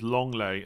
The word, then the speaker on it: Lenglet: Lenglet is pronounced as Longley.